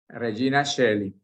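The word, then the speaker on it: Regina Caeli: latín también Regina Shelly en latín la oe oe ae se pronuncia como una e Regina Shelly Este ahí ustedes lo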